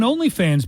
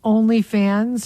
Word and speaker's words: OnlyFans: Okay, is it OnlyFans or OnlyFans? OnlyFans. Because I get in trouble with my kids because I put the emphasis on the wrong syllable. OnlyFans. No, it's OnlyFans. Okay, well, I don't say that. What do you say? OnlyFans? OnlyFans. That's probably the right way to say it, but the common way to say it is OnlyFans.